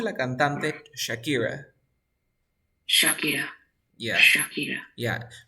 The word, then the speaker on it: Shakira: A ver, pronuncia la cantante Shakira. Shakira. Yeah, Shakira. yeah. No vayas a hacer el sonido como Shakira, sino como chachichichochu. A ver, de nuevo.